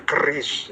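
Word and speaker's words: QRIS: Curis itu dibacanya keris ya, curis.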